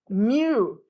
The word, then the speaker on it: mu: is the Greek letter Mew pronounced like a little cat okay now many people